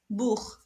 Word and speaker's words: Buch: Donc, alors, Buch, c'est après le O, on le prononce Buch.